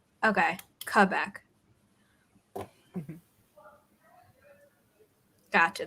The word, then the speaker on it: Quebec: That's what you were saying about the W. When I'm around other French people, I say it properly. And then when I haven't been around them in a while, like I add the W as if I were saying, you know, closer to Q, like in English or in British English.